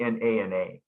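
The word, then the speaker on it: jnana: It's usually spelled you know g n a na in English. So it kind of confuses English speakers who see that. But it's actually pronounced nana.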